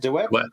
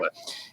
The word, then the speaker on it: Dweck: Is that how you say it? Dweck? Yeah, Gerald Dweck.